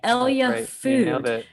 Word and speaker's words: ELYA: was my first question how do you pronounce this thing it's like capital e capital y capital l capital a i mean yeah yeah we want it to sound like hell yeah because we want people